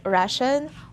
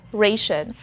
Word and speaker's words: ration: Well, it means similarly in English, but there are two possible pronunciations. First is ration or ration. So it's either ra or ray. But I prefer the second one, ration. For those of you who